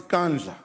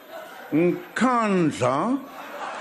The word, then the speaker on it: Nkandla: You know, some people who could not pronounce Kandla, they've now learned Nkandla, Nkandla.